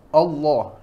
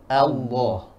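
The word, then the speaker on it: الله: ditipiskan dia bacanya seperti ketika membaca Allah itu salah Allah salah yang benar Allah Allah karena Imam Jazari berkata di dalam Kitab beliau dan tebalkanlah lam di dalam lafdzul jalalah tersebut sebelumnya didahului fathah atau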